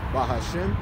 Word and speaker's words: Bahashem: which is spelled Y-A-H-A-W-A-H, Bahashem, which is coming in the name of, which is spelled B-A-H-A-S-H-A-M, right? You got to separate the Ba and the Ha and the Shem, all right?